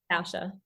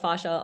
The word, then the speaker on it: fascia: yeah I was corrected I was corrected by um some of the fascia researchers because I used to call it FASA also and um that I was I was fine to call it fascia but I think you'll hear people say FASA or fascia we know what you're talking about you say tomato I